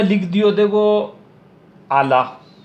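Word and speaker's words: على: मैं लिख दियो देखो आला, ओ आइन है, ओ लाम है, ओ या है। देखो आइन पर जबर और लाम पर खड़ो जबर, तो ओ या साकिन हो जैसी, ओ को निपटी साइलेंट।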